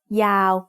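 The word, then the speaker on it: ยาว: Yô ย ั ก ษ ์ is a low-class consonant to start the syllable, and wô แ ห ว น at the end makes it a live syllable, so it's also mid-tone. Yào.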